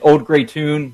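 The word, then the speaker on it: Auld Grey Toun: And then Old Gray Tune Golf Books, my company, is if you find me on there, you can find the link to the website.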